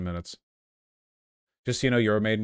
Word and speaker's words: Euromaidan: Just so you know, Euromaidan is pronounced Euro Maidan. I will never care, and I will never pronounce it that way, and I don't care.